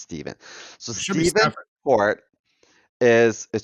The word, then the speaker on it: Stephen: Not Stefan. It's Stephen. It's true. We talked about this last week. It's spelled with a PH, but it's pronounced Steven.